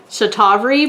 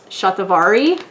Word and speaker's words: Shatavari: it but i um for a while was pronouncing it um chatawari but i guess it's shatavari and that's an ayurvedic